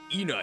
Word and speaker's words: Ena: Her name is Ena in French, and I is pronounced as the English E.